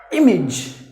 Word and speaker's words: image: Words ending with AGE or AGE should be pronounced like ij, not like age. It should be ij.